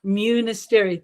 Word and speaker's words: Munisteri: And my name is pronounced Munisteri. Think of monastery with a U.